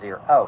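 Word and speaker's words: Ziro: Hut's Uncle zero or zyro I don't know how to pronounce it orchestrate a plant it's pronounced Zer oh so I had it right anyway Uncle zero and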